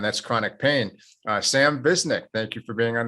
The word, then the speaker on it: Visnic: interested in and that's chronic pain uh sam visnik thank you for being on the show chris